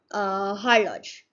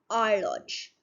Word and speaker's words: horloge: Okay, so the guys who won't be knowing French would be saying it as horloge. It's not like that. It's horloge. What it is? Horloge.